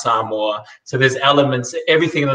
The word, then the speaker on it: Samoa: pacific culture from some from samoa otherwise known as samoa but it's you pronounce some more so there's elements everything